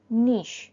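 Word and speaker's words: niche: 97 নিশ বানান এন আই সি এইচ E pronunciation নিশ মানে বিশেষ ক্ষেত্র নাম্বার 98 ভেঞ্চার ভি এন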